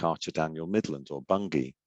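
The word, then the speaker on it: Bunge: archer daniel midland or bungie or bungie as it's pronounced um and you can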